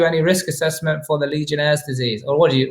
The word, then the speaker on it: Legionnaires: Do you guys do any risk assessment for the Legionnaire's disease? Or how do you say that? How do you normally say that? No. Langonaires. No, I do not say that. Legionnaires.